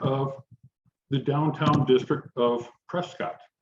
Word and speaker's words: Prescott: And he posted a picture of the downtown district of Prescott, or Prescott, as they pronounce it.